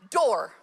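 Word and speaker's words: דור: u r and it's it's pronounced door so as we're talking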